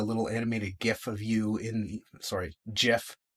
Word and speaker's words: GIF: And it'll actually embed a little animated GIF of you GIF, for anyone that wants to pronounce it properly, in the email to draw more attention to it as well.